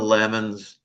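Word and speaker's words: Lamon: According to our member Michelle Craell about the pronouncing pron pronunciation of Wardill Lammon's surname, she says that according to JG Randall, Lmon's daughter Dorothy pronounced Lammon to rhyme with salmon.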